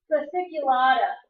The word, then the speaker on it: fasciculata: Our next region down is called the Zona fasciculata. It's kind of got a weird spelling because it's got this silent C. It's Fasciculata.